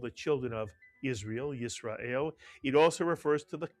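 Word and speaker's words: ישראל: So the first syllable is yis. The second syllable is ra. The third syllable is el. Put the word together, you get Yisrael, mitsuyan.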